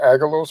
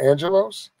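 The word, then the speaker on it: ἄγγελος: Now that word there, angels, is coming from a Greek word, angelos. You know, you could pronounce it agelos or angelos.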